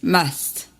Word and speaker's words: must: devoir c'est most ça c'est la prononciation pas must t'amener smam must mast voilà mast somme est une